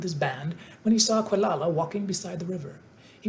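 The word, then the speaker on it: Quelala: he grew to manhood quala as he was called it's probably pronounced kalala quala kalala that's an odd little spelling but since this is a children's book it's probably pronounced phonetically so quala I'll call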